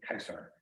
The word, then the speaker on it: Caesar: in the name okay in Latin Caesar was actually pronounced Kaiser able Fort nice okay